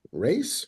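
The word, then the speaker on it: Ra's: the pronunciation at all it's R apostrophe as that's all I know it has right yeah that's race Ras sure uh so one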